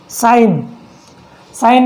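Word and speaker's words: sign: यदि एन से पहले जी आ जाए तो वहाँ पर जी साइलेंट होता है। देखिए साइन अप बोलते हो आप।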